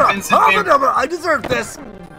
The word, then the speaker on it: Van Gogh: Now, apparently you're supposed to pronounce Vincent Van Gogh's name Vincent Van Gogh.